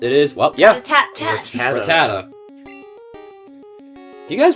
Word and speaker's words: Rattata: Rattata. Do you guys pronounce it Rattata, or as I pronounce it, Rattata?